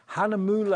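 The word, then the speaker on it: Hahnemühle: which is we've been talking about how to pronounce this all day long Hanam moule is the brand from Germany let's just show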